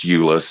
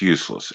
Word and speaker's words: Euless: it's not pronounced Euless, it's pronounced useless.